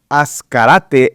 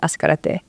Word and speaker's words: Ascarate: And so there's an area in El Paso, Texas that is Ascarate. And so it's spelled with an S, but we spell it with a Z.